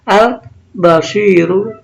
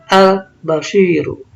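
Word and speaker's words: البصير: Alif lam qamariyah dibaca al-basiru, al-basiru. Jadi di sini maksudnya pada contoh alif lam qamariyah, alif lamnya dibaca jelas, ya, dibaca sekali jelas atau dibaca izhar.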